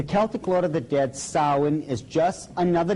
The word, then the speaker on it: Samhain: Now, when you look at the name, it looks as if it's saying Samhain or something like that. No, no, no, no. This is properly pronounced in the ancient Gaelic as Samhain.